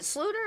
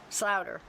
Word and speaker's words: Sluter: Is it Sluter or Slouter? How do you pronounce that? Sluter.